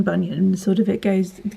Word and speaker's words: Bunyan: of saying have you heard of vashti banyan bunyan bunyan bunyan i find it really hard to